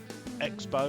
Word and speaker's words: X-Bow: fan of the uh x-bow or the crossbow depends how you want to pronounce it it's made by ktm